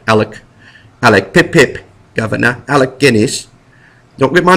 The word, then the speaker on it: Alec Guinness: Alex Guinness is his name. Alec, sorry, he's British. Alec Pip-Pip, Governor. Alec Guinness.